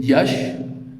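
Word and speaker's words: Iași: to the north west I was born in Yash which was the historic capital of uh mova is it's pronounced in Alania and uh this I would like like to give you idea what the town Yash was and it is still it was called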